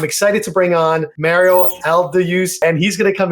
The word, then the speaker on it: Aldayuz: So, it's actually Mario Alduse.